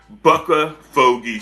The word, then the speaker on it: BuckaFogey: and and owner of bua f help me pronounce it again it's bucka fogy sports buck fogy sport okay let's talk about that all right